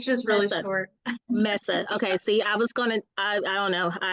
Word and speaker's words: Meza: last name what is your last name again Messa it's just really short Messa okay see I was gonna I I don't